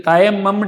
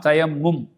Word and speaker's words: தயம்மும்: தயம்மும் செய்தல் இதுக்கு தயம்மம் சொல்ல தயமம் சொல்லதா பொதுவா நாங்க தயம் சொல்லுவோம் சரியான உச்சரிப்பு தெரியுமா தயம்மும் சரியான உச்சரிப்பு தயம்மம் அல்ல தயம்மும் இந்த ஆசிரியரும் அப்படிதான் போட்டருக்கிறார்